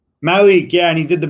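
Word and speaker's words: Malík: whose score merit marinchin merrick mellick how he's pronounced his last name malik malik yeah and he did the between the legs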